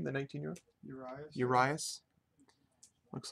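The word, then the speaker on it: Urías: Urias.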